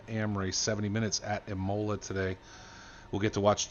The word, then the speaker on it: Imola: See, Stolowski's going to come in and be that guy like Donkey Pete or like Zorax and tell me how to pronounce things. It's Imola.